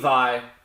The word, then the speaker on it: Vai: I know it's spelled like Vay, but it's pronounced Vi. You know. I'll correct myself. Steve Vai.